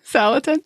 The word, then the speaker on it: Salatin: Salatin.